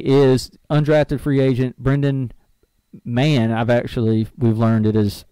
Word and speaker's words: Mahon: spot, fighting Amini, is undrafted free agent Brendan Mann. We've learned it is how it's pronounced. I thought it was Mahone.